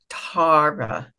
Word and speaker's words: Tara: it's with a soft A, Tara. That's the Celtic pronunciation.